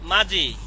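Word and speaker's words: 맏이: আর যখন এই যে ইয়ং আর ই আসবে তখন উচ্চারণ হয়ে যাবে কি? মাজি। কি হবে? মাজি। কেন মাজি হয়েছে? এই যে দ্বিগুতের পরে ইয়ং আছে, এই যে দ্বিগুতের পরে ইয়ং আছে, জ উচ্চারণ হবে।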